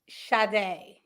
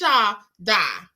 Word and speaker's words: Shadai: Sade. Shadai. Okay, I just want to make sure Bianca Shadai because you know, like, no, it's Shadai. You everybody listen, everybody pronounce it that way, Shadai.